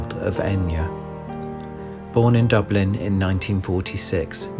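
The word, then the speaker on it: Eithne: Her name would be simplified and phonetically spelled Enya.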